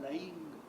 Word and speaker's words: Laing: La segunda cosa que para mí fue en ese momento muy importante fue conocer relativamente de cerca a Ronald Lang. Acá lo pronuncian Laing, el del ser dividido,